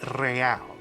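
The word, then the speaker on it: réal: you owe me 130 real he pronounces the r with a mock aristocratic accent the I I or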